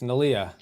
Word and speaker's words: Neleh: Is it Neleh? Nila? It's Neleh. Neleh.